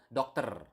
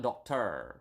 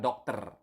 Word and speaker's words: dokter: You need to pronounce the R. Okay, so dokter, not doctor or something like that, but dokter. Okay, so with a doctor is dengan seorang dokter.